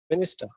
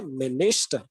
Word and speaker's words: minister: But when we are going to say minister, okay, instead of saying minister, we are going to say minister because there is a stress in the middle syllable.